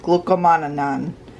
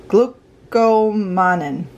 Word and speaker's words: glucomannan: correctly glucky glue see glucomannan glucomannan glucomannan i say glue see not glooky because of the italian in me i've explained that before